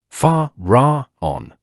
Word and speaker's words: Pharaon: Next, the Master lulled himself to sleep, vocalizing the powerful mantram Pharaon. That mantram is vocalized in 3 syllables, as follows. Fa-ra-on.